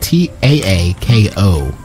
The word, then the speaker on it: Taako: His name is spelled T-A-A-K-O.